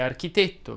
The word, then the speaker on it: architetto: è aperta quasi sempre ecco la regola della è chiusa che vedremo oggi fa da contraltare a quella regola della è aperta nel senso che ha una marea di eccezioni che non pretendo di esaurire qui ed ora tra i diminutivi i falsi diminutivi possiamo citare architetto per esempio ma anche tavolinetto